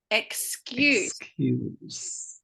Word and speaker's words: excuse: yeah that's good yeah now it's excuse me is this very similar but it's got a z at the end excuse me excuse again same thing excuse but it's as good as at the end so the noun has got us but the the um